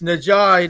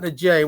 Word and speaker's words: Najai: And, Najai Hines, and it's Najai, not Najay. We called him Najay in the post game, which was stupid by us. Najai is how he pronounces his name, but he does go by Jay also.